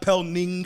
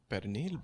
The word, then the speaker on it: pernil: It's but not pelning. just because it's not. It's none of that, spelled bro. that way doesn't mean you Come have on, to say son. it that way. Y'all gotta learn how to say it. Learn how to spell it. It's what you Pelni. eat every holiday, bro. Pick up a Pelni. fucking book. Yo. In DR, yeah, like your parents. How do your parents say it? Pernil, bro.